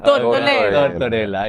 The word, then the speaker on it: Tortorella: I love Tortorella. Latinos are arguing over pronunciation. It's Italian now. Get your people. Tortorella, yeah.